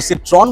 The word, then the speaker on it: Citroën: सिट्रॉन बोलते हैं कि सिट्रॉ बोलते हैं? Citroën. I think Because it's a French में N pronounce नहीं तो इट्स अ होता।